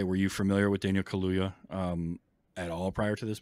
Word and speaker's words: Kaluuya: And it's a shame that Daniel Kaluuya, I think is how you pronounce it, right? Yeah, Kaluuya.